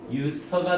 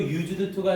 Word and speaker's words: used to: 자, 주어를 쓰고 나서 비동사나, 이거 왜 하기 전에 주어를 쓰고 나서 아무것도 없이 유스터가 나왔다고 해봅시다. 그럼 이 유스터가 하나의 조동사가 되죠. 그래서 유스터, 발음도 used to가 아니라 유스터라고 발음이 돼요.